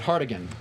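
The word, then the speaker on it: Hartigan: His character's name was Hardigan. Cardigan. Cardigan. Yeah. But and it rhymes with he- cardigan.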